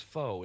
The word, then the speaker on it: faux: come along and go, "No, it's faux. It's fake. It's faux fur. You're mispronouncing, right? It's not fox fur."